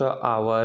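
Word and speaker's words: hour: Silent. जैसे आपके, ठीक ना, यहाँ पर चार हम दिए हैं, ऑनर, हॉनेस्ट, आवर, ठीक ना, इको, ठीक ना।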